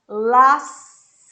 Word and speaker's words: Los Angeles: Los Angeles. Los, bem aberto. Los, som de S. E eu vou juntar com o Angeles. Los Angeles.